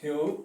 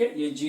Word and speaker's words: Hugh: Hector, ठीक है, Hector ह्यू Munro, ठीक है, हेक्टर ह्यू मनरो, प्रोनाउंसिएशन भी है हेक्टर ह्यू मनरो, ठीक है, ये जी यू से आप ह्यूज नहीं पढ़ेंगे इसको, you will just go with Hector Hugh Munro।